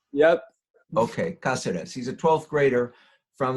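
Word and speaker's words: Cáceres: And is your name properly pronounced Caceres? Yes. The accent on the first syllable, is that right? Yep. Okay, Caceres.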